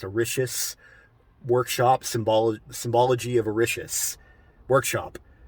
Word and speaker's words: Orixás: So being able to be there and actually document what an Orixas, I think that's actually how it's pronounced, Orixas workshop, Symbology of Orixas